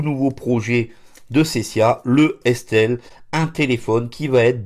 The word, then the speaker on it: S-Tel: Alors Estel s'écrit S majuscule et T-E-L comme téléphone.